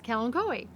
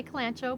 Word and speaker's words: Kalanchoe: just referred to as Ken koi so and in the plant World CH is is pronounced K so it's K and KO I know a lot of people say clanto but that's okay too